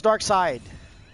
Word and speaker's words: Darkseid: It's Darkseid. But yes, side is spelled weird.